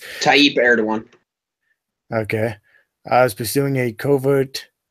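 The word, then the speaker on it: Erdoğan: The secular opposition has long argued that the government of Recep Tayyip, I cannot pronounce these fucking names. Tayyip Erdogan.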